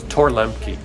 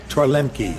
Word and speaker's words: Torluemke: Torluemke. Torluemke. Yeah, so when you look at it, you just drop the U.